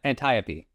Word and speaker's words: Antiope: Ant uh Antiopee.